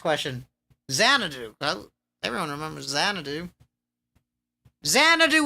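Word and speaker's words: Xanadu: Zanadu. Zanadu. I can't believe that was the hardest question. Zanadu. Everyone remembers Zanadu. Zanadu with an X.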